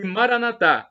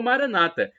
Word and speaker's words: Maranatá: E Maranatá, com a tônica na última sílaba, como dizemos nós católicos. Ou Maranata, como dizem nossos irmãos separados, os evangélicos ou protestantes. Maranata, né, é a pronúncia deles, com a tônica na penúltima sílaba.